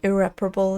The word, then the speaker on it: irreparable: I suppose irreparable is the way to pronounce that, isn't it?